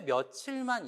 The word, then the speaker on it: 며칠: 자, 그런데 몇 일은요, 우리가 발음을 어떻게 하죠? 자, 여기 한번 볼까요? 만약에 몇 더하기 1이라면 몇 일 이렇게 발음을 하겠죠. 오늘 몇 일이야? 그런데 우리가 오늘 몇 일이야? 몇 일 후에 만나? 이렇게 안 하잖아요. 어떻게 발음하세요? 며칠. 며칠로 발음을 해요.